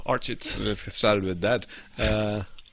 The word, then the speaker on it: Archit: So, I mean, I guess at this point, even when I say it myself, I anglicize it a bit, but the way I would pronounce it is Archit.